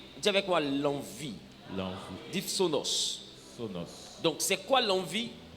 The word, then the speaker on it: phthonos: o n o s mais ça s'écrit ça se lit sonos parce que le pH c'est comme F alléluia dis avec moi